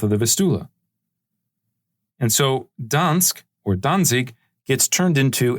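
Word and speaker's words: Gdańsk: example a city like Dans Dans is spelled with a G today in Poland it's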